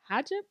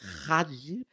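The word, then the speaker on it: hijab: Because it's not pronounced the way it looks. Ha. You got to say it like Hajib. It's H-I-J-A-B.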